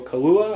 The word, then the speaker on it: Kaluuya: And famously, this episode has Daniel Kaluuya, I believe I'm pronouncing his name right, who starred in last year's Get Out, who's now nominated for an Academy Award for Best Actor.